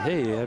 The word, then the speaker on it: Heye: And I can pronounce it Heye because he's Norwegian.